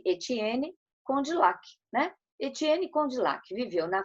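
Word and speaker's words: Étienne Condillac: Pronuncia-se Etienne Condillac, né?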